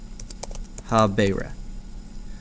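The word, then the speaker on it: habēre: endings so let's take habeo habera that's a long e you take that you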